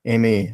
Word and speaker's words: Ma: the planet, Ma, M-A. I don't know. How do you say your name? Please clarify that. Ma is good.